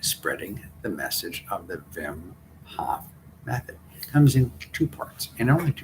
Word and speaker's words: Wim Hof: to you about the wim hof properly pronounced vim hof method you may have